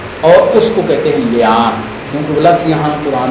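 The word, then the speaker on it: لعان: یہ تلفظ اس کا ہے لیان، لعنت سے ہے، قذف اور لیان.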